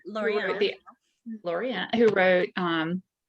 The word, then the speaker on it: Laureano: Laureano, who wrote 5 Days in Skye, which I